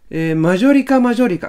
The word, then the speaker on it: マジョリカマジョリカ: せるお願いしますこれなんて読むマジョリカマジョリカ 9 常識だはこんなもね今なおいあのマジョリカなマジョリカマジョリカ a 家上だなあぶね